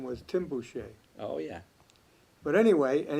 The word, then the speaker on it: Boucher: i say it right butcher yeah yeah because some people say boucher it really should be boucher which is the the french pronunciation but we've sort of